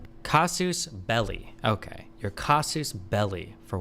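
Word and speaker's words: casus belli: There are two different ways of pronouncing it to make it sound more Latin. It is generally said as casus belly. Kasus belly.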